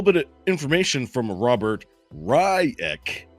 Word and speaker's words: Reich: He's got a little bit of information from Robert Ryek, is what he pronounces it, R-I-CK.